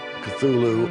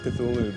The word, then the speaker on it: Cthulhu: elaborate as this story was the spelling and pronunciation of the ancient names was even more so cthulu of course the discrepancy on the on the